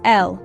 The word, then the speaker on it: el: the first five words our first word is l pronounced as L similar to the English word elk without the k l is the Spanish